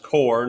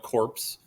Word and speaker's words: corps: That bolded word there is the word core, and it is pronounced core, not corpse.